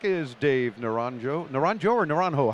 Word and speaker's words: Naranjo: Naranjo or Naranjo?